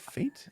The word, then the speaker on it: fête: I think it's I think it's I think you can pronounce it fate. I I I used that same word in my uh D&D campaign to create Stranger's Fate, but I think fête is also acceptable.